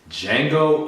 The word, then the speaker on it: Django: I'm Victor Omoayo, and today's film is Django Unchained, The D is Silent, starring Jamie Foxx, Christoph Waltz, Leonardo DiCaprio, Kerry Washington, and Samuel L.